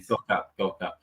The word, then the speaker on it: Gökalp: You say Gökalp? Is that how you pronounce it? That's right. Gökalp.